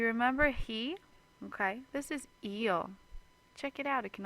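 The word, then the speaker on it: ils: two options we have eel and we have L now eel e l l we don't pronounce them any differently but in the plural form they will have an s on it so far so good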